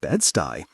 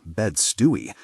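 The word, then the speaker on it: Bed-Stuy: This isn't Bedstey. We give a gosh here. We care. He pronounces it incorrectly. Bed Stewie.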